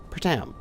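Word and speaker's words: Pertam: the bison plopped it onto um pratam petrum pratam that's how you pronounce it and then just start recording and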